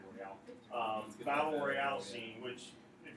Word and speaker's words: Battle Royale: Chapter 1 then is referred to as the Battle Royale or Battle Royal, depending how you say it. I say Royale.